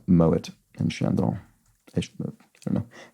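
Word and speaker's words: Moët: name could be uh Moet not pronounced Moe surprisingly because I think the um co-founder of that house was German possibly so yeah mow it and Shadow I don't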